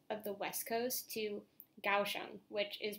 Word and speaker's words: Kaohsiung: the west coast to Kaohsiung, which is pronounced nothing like it looks because you'd think it starts with a G, but it does not.